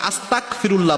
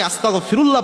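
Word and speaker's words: أستغفر الله: ইস্তেগফার আস্তাগফিরুল্লাহ পড়ার সময় অনেকে আস্তাগফিরুল্লাহ পড়েন, ক উচ্চারণ করেন, তাহলে অর্থ হয়ে যায় আল্লাহ রাব্বুল আলামিনের উপর আমি কুফরি করলাম, আল্লাহর কাছে মাপ চাওয়া তো দূরের কথা, এর অর্থই পরিবর্তন হয়ে যায়।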